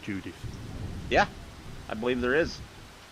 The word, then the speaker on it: Judith: It's Judith. I know, but my brain is going Judas. Don't ask me why. It's just saying Judas. Is there a place called Judith?